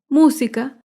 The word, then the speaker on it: música: Las palabras esdrújulas se acentúan en la antepenúltima sílaba. Por ejemplo, la palabra música. Música se acentúa en la antepenúltima sílaba. Música.